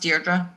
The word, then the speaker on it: Deirdre: way can i interject my name is um actually pronounced deirdre yeah i'm sorry was